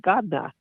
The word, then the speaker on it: Gardner: That's somebody who's talking with a very heavy Boston accent. They would pronounce it Godna.